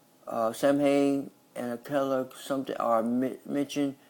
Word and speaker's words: Samhain: Samhain, pronounced Samhain, which is first and most important of the 4 quarter days of medieval I can't pronounce.